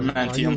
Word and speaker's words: Adamantium: Are you Adamantium.